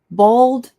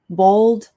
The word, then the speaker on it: bold: Bald font. Bold font. So, um this one is a little tricky because we have a word bald.